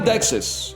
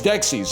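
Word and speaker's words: Dexys: Discover this like a very By the way, it is not Dexus. It's Dexis. Isn't Dexus that weird Pokemon with the double helixes?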